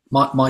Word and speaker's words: Mai: Is it pronounced May or Mai? My Salus.